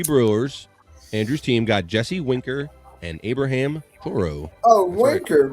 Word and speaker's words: Winker: Andrew's team got Jesse Winker and Abraham Toro oh worker why are you saying wanker Andrew I thought it was Winter the whole time don't stay around the